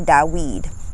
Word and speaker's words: David: king end up being king david or da weed pronunciation of david what happened in that